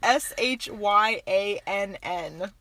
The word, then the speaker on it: Shyann: I've never seen Shyann spelled like this in my life. It's Shyann.